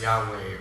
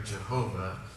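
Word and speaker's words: YHWH: necessary right and so y-h-w-h is god's name and so we pronounce that as yahweh or jehovah right but this is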